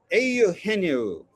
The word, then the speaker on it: Eugenio: I think Pat Hughes pronounces it auhenu.